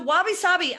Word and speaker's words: wabi-sabi: you mentioned this word wabi-sabi which is I've never heard before I phonetically spelled it out I actually spelled it right so it's wabi - sa bi if I'm correct perfect so youyou mentioned